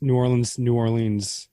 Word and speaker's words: New Orleans: I should have technically pronounced New Orleans to rhyme with jeans. Nolans. That's how you say it.